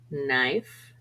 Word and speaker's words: knife: vowel honest hour air K is almost always silent before n for example no knife knit L is usually silent